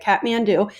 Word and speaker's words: Kathmandu: see the different locations this is its capital kathmandu and that's really how you say it kathmandu and you noticed here is mount everest and